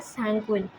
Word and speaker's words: sanguine: Blood के ठीक ऊपर जो लिखा हुआ है ब्लैक कलर से, SANGUINE, उसका प्रोनाउंसिएशन है सैंग्विन।